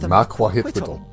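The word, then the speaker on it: macuahuitl: Ooh, that's how you pronounce it. Makwahwittle.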